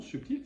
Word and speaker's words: subtil: prends un exemple subtil subtil nous le prononçons avec le B il y a longtemps subtil ça se disait subtil et puis nos fameux érudits là ont ajouté un B parce que en l'attendait subtiliste et à force de voir écrit le B nous nous sommes mis à le prononcer et c'est ainsi que